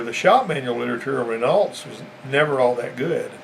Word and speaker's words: Renault: shop manual literature of Renault's was never all that good. Renault is the right way to say it, but Renault's what it looks like, and whichever way you want to say it, it's the same car.